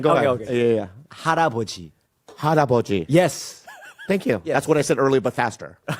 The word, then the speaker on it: 할아버지: Habaraji.